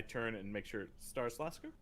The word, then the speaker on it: Starilaskur: and make sure it starts lasker correct and i said it right that time um and uh yes